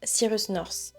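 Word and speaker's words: Cyrus North: Another one and one of my personal favorites is Sirus NS and I'm pronouncing it in French just because that's how he pronounces his name.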